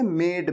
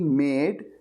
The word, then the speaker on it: made: मेक का मतलब होता है बनाना, लेकिन कई स्टूडेंट्स ने इसे गलत प्रोनाउंस किया और कहा मैड। बिल्कुल वैसे ही जैसे पागल, वो पागल के लिए कहते हैं ना मैड, उस तरह से प्रोनाउंस किया। तो ये मैड नहीं है, ये क्या है? मेड।